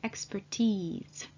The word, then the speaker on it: expertise: Please note that the E's is pronounced as a long vowel E, expertise.